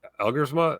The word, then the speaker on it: Elgersma: But like, Taylor Elgersma, is that how you say it? The Canadian? Yes, Elgersma, like big arm, dude.